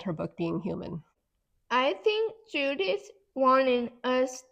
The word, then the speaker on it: Heumann: Human sounds like the word human, right?